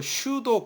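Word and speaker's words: pseudo: 자 그 4 코드 영어로 슈도 커드 비다 슈도 피는 묵음 이고 슛 어코드 자 밑에 그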